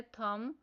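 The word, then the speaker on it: thumb: Next word है थंब। इसमें से साइलेंट लेटर बी बॉक्स में राइट करना है।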